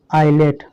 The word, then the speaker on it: islet: तो देखिए यहाँ पर L और I के बीच में S आया है इसलिए क्या है, ये चुप है, साइलेंट है।